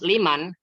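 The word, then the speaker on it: لمن: contoh dulu beli ini Liman Liman ini ada lam digabung sama Man lam digabung sama Man jadi bacanya Liman artinya punya siapa Liman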